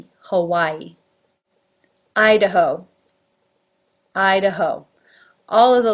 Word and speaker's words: Hawaii: I'm sure that in Hawaii, the Hawaiians pronounce it with a more authentic accent. But in general, in America, we call this state Hawaii. Hawaii.